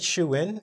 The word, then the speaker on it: shoo-in: And notice I said shoo-in. It looks like the word shoe here, but it's spelled differently, which might be a bit confusing.